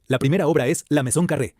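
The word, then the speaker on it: Maison Carrée: La primera obra es la Maison Carré, pronunciada Maison Carré, construida aproximadamente en el año 16 a.C.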